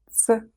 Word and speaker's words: ц: Ц. Ц. The sound ц is another one students often struggle with. Let's learn how to pronounce it. The sound ц is a combination of the sounds t and s.